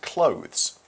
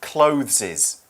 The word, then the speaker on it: clothes: CL o th es clothes it's not closes please don't say that pronounce it that way it's clothes by the way it's